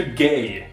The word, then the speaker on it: GAJ: So welcome to GAY, Gaming and Journalism. The J is pronounced like a... GAY!